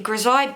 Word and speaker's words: grisaille: These have been designed to help you hone your colour pencil skills by using a Grizaye base. Now, Grizaye in art, it's spelled a little bit differently to this, but